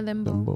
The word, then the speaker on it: dembow: Dembow? Yeah, Dembow.